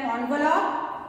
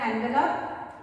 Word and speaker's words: envelope: And the postmaster, he put that amount or money into an envelope. Right? Generally we pronounce this word as envelope, but this is envelope.